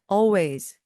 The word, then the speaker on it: always: 언제나 해서 always always 이때 Al 해서 L 발음 안 하셔도 되고요 그냥 always always 그리고 도망가는 건요 뛰어서